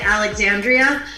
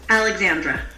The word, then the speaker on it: Alexandra: You know, I lived in Maryland for a little while, and people from the South near Virginia, they say Alexandria, but everywhere else it's Alexandra.